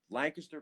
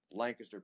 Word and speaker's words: Lancaster: lancaster lancaster please lancaster lancaster pennsylvania like a kiss you say it like a kiss you say it like like it's a kiss it's got a kiss in it lancaster lancaster pennsylvania get